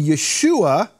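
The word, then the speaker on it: ישוע: Hebrew grammarians and linguists how to say the name Joshua in Hebrew it's Yehoshua and Yeshua which later became Jesus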